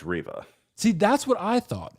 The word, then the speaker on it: Reva: riva and you know i never really knew how to pronounce your name is it reeva is it rev does anyone really know because i hear it pronounced differently in every stream according to if you're actually watching the obi-wan kenobi show it's riva see that's what i